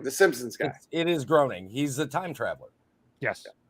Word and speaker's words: Groening: Matt Gehring. Fuck, I don't know how to pronounce his name.